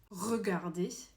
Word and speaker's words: regarder: It's regarder. It takes so much effort to get that first R out, but the second R does not take as much from your throat.